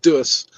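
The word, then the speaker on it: doos: in South Africa, or in Afrikaans specifically, doors is pronounced dus, and it either means a box or a lady part.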